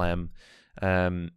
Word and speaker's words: mu: here as well so so mu is pronounced like the m in music yeah and omega is